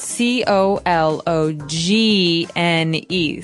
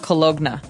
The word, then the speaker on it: cologne: ends with uh it it's spelled c o l o g n e so you don't really say the g it's not cologna right it's cologne and it's something that